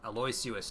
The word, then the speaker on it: Aloysius: Aloysius Dawson is how they've been pronouncing it.